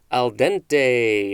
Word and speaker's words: al dente: is an adjective next we have al dente and of course you have to say it kind of like that a-l-space d-e-n-t-e this is